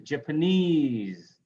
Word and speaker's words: Japanese: Stress ease in noun, Chinese, Japanese, Vietnamese, right?